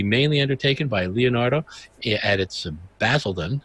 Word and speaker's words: Basildon: undertaken by leonardo edits Basildon is that correct pronoun that i pronounced that correctly mattered yes we like that yes